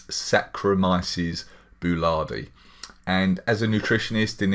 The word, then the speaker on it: Saccharomyces boulardii: again for people that aren't sure how to pronounce it it's Saccharomyces boulardii and as a nutritionist in in our health